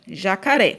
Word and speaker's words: jacaré: Aqui, ó, jacaré. Vamos fazer de conta que jacaré é um time. Então, vamos torcer pelo jacaré. Jacaré, jacaré. Então, aqui, ó, o ré, a última sílaba aqui foi a mais forte.